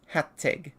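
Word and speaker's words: Hațeg: But generally, when written in English letters, whatever those are called, it is like hat and then egg. Because it's Hattig.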